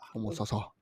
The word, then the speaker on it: Homosassa: Homosassa.